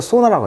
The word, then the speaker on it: sauna: 자, 발음은요, 소나라고 하죠. 소나. 사우나를 영어 발음은 소나라고 합니다. 소나.